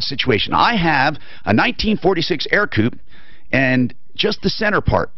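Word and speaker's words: Ercoupe: It was a 1946 Air Coupe. It's spelled E-R-C-O-U-P-E.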